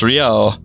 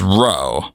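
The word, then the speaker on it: Ryou: Why does this dub call Kyo Kyo, but then proceeds to pronounce Ryo as Ro? There's still a Y, guys, come on.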